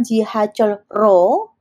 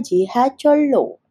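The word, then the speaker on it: 지하철로: sehingga menjadi J dibacanya bukan jihol ro tetapi dibacanya jiholo yang artinya dengan kereta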